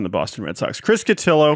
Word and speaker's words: Cotillo: On Twitter at Chris Cotillo. Rhymes with pillow, not Cotillo, as many people think.